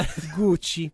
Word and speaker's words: Gucci: And I hope you realize that I will not in any way be saying Gucci. I will be saying Gucci. Of course. Gucci. That's how you're supposed to pronounce Gucci.